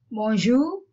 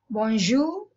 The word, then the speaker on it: bonjour: Bonjour, good day. The R is not pronounced too much.